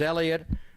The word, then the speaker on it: Heliot: pronounce his first name is it heliot helot Ramos I think everybody knows now that he is Elliot Ramos and he was drafted